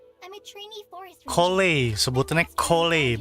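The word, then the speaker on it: Collei: Kole, sebutannya Kole.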